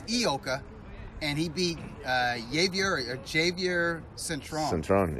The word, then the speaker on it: Ioka: Kazuto Ioka. Ioka. Yeah. I used to call him Ioka, like Lee Iacocca. Remember Yeah. that guy, the car guy? Yeah. Oh, Ioka. But it's Ioka, and he beat Javier Centron, yep.